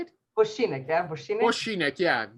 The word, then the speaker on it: Vošinek: Okay, and our friend, you tell your name so I don't mispronounce it. Go ahead. My name is Vošinek Vošinek, is that how you say it? Vošinek, yeah, Vošinek.